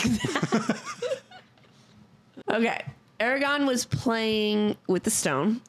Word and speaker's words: Eragon: was playing with I said it right right Aragon yeah Stone and it started squeaking and then